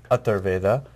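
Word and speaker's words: Atharvaveda: I have so many questions to ask you, but I know that this particular show is known as Atharveda. Did I pronounce that right?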